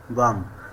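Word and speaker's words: bomb: যেমন বি ও এম বি বম মানে বোমা। এখানে এম এর পরে বি লেটার দি সাইলেন্ট থাকবে।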